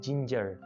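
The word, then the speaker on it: ginger: जिंजर, जिंजर, जिंजर, इसको आपने ध्यान रखना है, इसको कुछ लोग गिंजर बोल रहे होते हैं, जी को गाफ प्रोनाउंस करते हैं, ये गलती आपने नहीं करनी, इसको बोलना है जिंजर, जिंजर।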